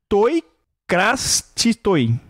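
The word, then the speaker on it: τῷ κρατίστῳ: Na época, a pronúncia significa toi krastistoi. Toi krastistoi. Tá? Só que teve gente que entendeu toi cratero, que significa para o crateros, que era o general dele.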